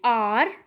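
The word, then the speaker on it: hour: For example N आर, आ की sound आई है ना, एन आर आर.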